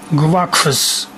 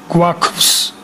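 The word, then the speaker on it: გვაქვს: Okay, this is very difficult to pronounce. Gv, a, k, v, s. Gv, kv, gwakus, gwakus.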